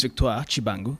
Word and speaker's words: Victoire Tshibangu: First of all, my name is Victoire Tshibangu. That's the right pronunciation.